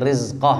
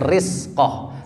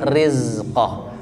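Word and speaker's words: رزقه: min in amsakar rizqoh hati-hati rizqoh bacanya bukan rispoh Tapi rizqoh pegang masing-masing tenggorokan kalau bergetar betul kalau tidak bergetar berarti salah eh in amsakar rizqoh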